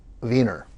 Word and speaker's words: Weiner: I mean, these are Germanic pronunciations that get mangled in English. If you come from Vienna, it's Wiener.